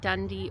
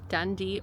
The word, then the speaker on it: Dundee: Um, we are in Dundee, Oregon, which, um, if you want to look it up, it's spelled D U N D E. Dundee, Oregon.